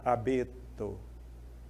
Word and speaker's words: abeto: mar a última sílaba abeto não tem acento Mas é claro né abeto eu demorei mais tempo no B Honduras da mesma